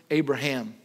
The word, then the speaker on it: Abraham: Not Abram, Abraham. And that, the H, the only way you can pronounce that is, would have been the breath of God, by the Spirit of God. Sarah, not Sarai, not Abram, there's no H.